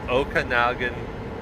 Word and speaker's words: Okanagan: Okanagan Valley is how you say it.